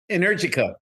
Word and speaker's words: Energica: Sean, how do you pronounce the name of that bike? Energica.